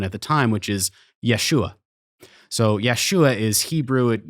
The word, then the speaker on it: Yeshua: is historically accurate they actually use the correct pronunciation of Jesus's name as it would have been at the time which is Yeshua so Yeshua is Hebrew it's like mostly related